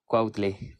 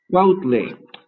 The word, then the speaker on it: Cuautle: Many people do not pronounce my last name very well. It's C-U-A-U-T-L-E, Quautle. Quautle.